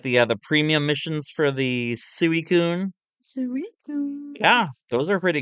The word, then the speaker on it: Suicune: It's pronounced Suicune.